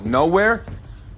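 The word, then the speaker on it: Knowhere: No, nowhere? Le jeu de mots ici est assez explicite. Nowhere, qui a un K muet comme le mot no, se prononce comme nowhere, qui veut dire nulle part.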